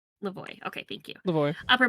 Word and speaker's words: Lavoie: Lavoie.